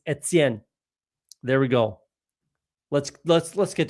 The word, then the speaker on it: Etienne: Travis Etienne does not even say his own name properly. It's not Etienne, it's Etienne.